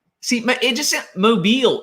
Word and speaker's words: Mobile: know how to pronounce mobile see my it just mobile you have to like peel your lips way back it just it's you